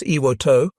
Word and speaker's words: Ioto: It's officially known as Ioto, a small correction of the name that acknowledges Japanese pronunciation.